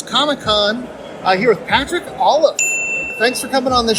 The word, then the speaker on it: Olliffe: some interviews from patrick olive is that how you pronounce his name yes olive like olive but with f sounds ah yes and brett